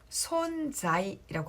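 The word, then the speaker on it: 存在: 일본어로 손자이라고 합니다.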